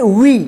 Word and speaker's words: we: यहाँ पे देखिए SHE, इसको क्या पढ़ेंगे, शी, HE, ही, WE, इसको क्या पढ़ेंगे, वी। इसको वे या हे या से या बे मत पढ़िएगा, यहाँ पे ई का ई उच्चारण होगा, जैसे B, C, ही, वी, ठीक।